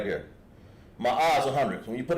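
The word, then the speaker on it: מאה: Ma'a.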